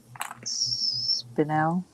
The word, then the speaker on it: spinel: and little diamond chips spinel is that how you pronounce it yes that's it and i can't i